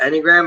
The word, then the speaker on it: Enneagram: So I kind of want to hear from you a little bit more of the Enneagram. Is that how you say it? Yeah. The Enneagram.